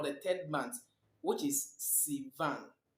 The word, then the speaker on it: Sivan: month three or the third month which is Sivan Sivan it corresponds to June Sivan corresponds to June